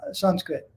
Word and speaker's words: Sanskrit: It's like for those who studied French, sans, S-A-N-S. It means without. That would be the pronunciation of the first 4 letters of Sanskrit. Sanskrit.